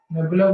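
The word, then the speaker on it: nabla: अगर मैं इसका स्क्वायर बोल दूं, लैप्लाशियन ऑपरेटर होता है ना, तो नेबुला बोलो या फिर डेल बोलो, ठीक है, दोनों में से कोई भी प्रोनाउंस कर सकते हैं, लैप्लाशियन ऑपरेटर।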